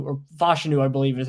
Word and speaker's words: Fashanu: it's fashanu or something should know Dame bruger's pronunciation guide says fashanu fashanu okay said it differently than how I've